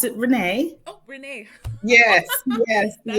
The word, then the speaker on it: Rena: I'm doing well, and I pronounce it Renee.